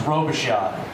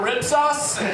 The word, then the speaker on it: Robichaud: and i'll say again my last name is robeshot it's spelled r-o-b-i-c-h-a-u-d-r this telemarketer calls up he goes hey yeah you know guys picked out mr rib sauce like really that's what